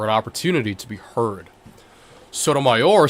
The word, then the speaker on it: Sotomayor: Writing for the three, Justice Sonia Sotomayor, that's how you pronounce it, right? Sotomayor? Sonia Sotomayor. Okay, yeah.